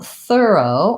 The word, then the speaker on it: thorough: So thorough, or I might write it like this, thorough, is another way to view this word and pronounce it correctly. So I'm ignoring the silent GH letters.